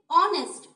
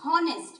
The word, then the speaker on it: honest: you will pronounce it honest. O will be the first letter when you are pronouncing. But while writing, you will write H-O-N-E-S-T. So you will not tell it on honest.